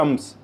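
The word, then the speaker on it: الشمس: शम्स सूरज है अमस नोट करने की बात है कि अल कमर में लाम की आवाज मैं निकाल रहा हूं अल कमर जबकि यहां पर मैं लाम की आवाज को नहीं निकाल रहा अमस लाम टोटली साइलेंट कर दिया लाम साइलेंट अल कमर में लाम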